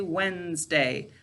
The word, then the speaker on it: Wednesday: My favorite example of this, or the one that I learned when I was younger, is Wednesday, right? When we're speaking, we say Wednesday, but to spell it correctly, we say Wednesday.